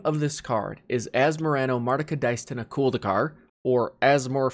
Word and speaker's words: Asmorano: to work through them so the first part as morano pretty simple and then the middle